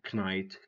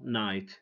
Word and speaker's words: knight: Don't say kno, knight, knee, knife. Say no, night, knee, knife. Why? Because K is silent.